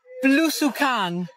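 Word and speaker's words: blusukan: Tell me about Belusukan.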